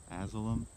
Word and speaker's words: Azilum: just so everybody knows i am not pronouncing it wrong asylum maybe okay that's gonna be